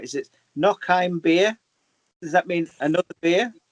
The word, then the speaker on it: noch ein Bier: Now let me pronounce this right. Is it noch ein Bier?